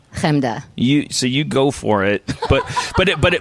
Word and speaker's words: Chemda: Chemda. You go for it, but if I do that, I feel it's say it. Say my name. Chemda.